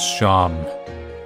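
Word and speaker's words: Seam: My name is Sam. I pronounce Sham.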